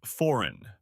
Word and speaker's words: foreign: The word is foreign. F O R E I G N. The G is silent.